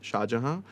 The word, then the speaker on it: Shahjehan: It's SFOR4 Shahjehan. It's SHAAJEHAN. So people usually put a JAH, and I was like, I'm not. It's Shahjehan with the E.